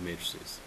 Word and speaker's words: matrices: the way uh plural for Matrix is matrices matrices is how you say plural form okay so now let's